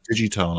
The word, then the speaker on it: Digitone: I always pronounce it Digitone. I always use a soft G because that's how we say it in Ireland.